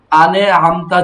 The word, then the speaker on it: أنعمت: আছে, এখানে কিন্তু হ্যাঁ, আবার এখন যদি তুমি পড়তেছো আনে আমতা, এভাবে হবে না, ধরে রাখতে হবে, সাকিনের উচ্চারণ একটু ধরে রাখতে হয়, ঠিক আছে, নয়তো এই যে ডাবল উচ্চারণ হয়ে যায়, আনে আমতা হয়ে যায়, সিরাতাল্লাযীনা আন'আমতা আলাইহিম, সিরাতাল্লাযীনা